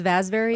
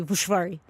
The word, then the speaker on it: Vasvary: My last name is Vasvary, and if you're really saying it right, in Hungarian, it's supposed to be Vushvari.